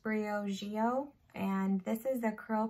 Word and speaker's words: Briogeo: So I'm pretty sure this is pronounced Briogeo, and this is the Curl Charisma Rice Amino and Avocado Hydrating Shampoo.